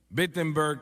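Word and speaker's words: Wittenberg: Alemania o no perdón empieza con una W pero se pronuncia como una B vettenberg Alemania y clava sus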